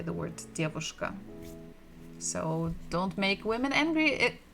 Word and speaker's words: девушка: We have dia, d, dedushka, and here we have bukva v, devushka. And the stress is also the same syllable, the first. Dedushka, devushka.